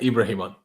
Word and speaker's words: Ibrahim: i talk to you soon and now get ibrahimon cheers appreciate bro yes man how are you